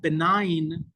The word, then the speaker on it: benign: Instead of calling it benign, they pronounced the G in that word.